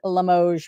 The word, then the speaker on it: Limoges: And you guys are all cheering for me because I said Limoges right, correct?